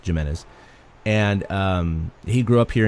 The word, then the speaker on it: Gimenez: Gimenez he grew up here and it is pronounced Jimenez by the way it's with a G I know it looks like Jimenez but it's it's Jimenez and he grew up here in Gilroy he